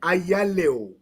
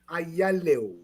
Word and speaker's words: Ayalew: As you read it, Ayalew. Ayalew. Ayalew.